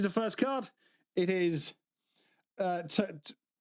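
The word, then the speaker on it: Togedemaru: It is Togedamaru. Tojidimaru.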